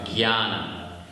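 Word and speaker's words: jñāna: as it's written and you pronounce it with a G Gana now if you want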